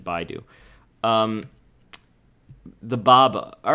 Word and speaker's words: Baidu: So a little bit more bearish on the Baidu, whatever, however you pronounce it. I pronounce it Baidu.